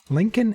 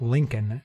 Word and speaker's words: Lincoln: Lincoln and Grant were both presidents, but I don't see other presidents in here.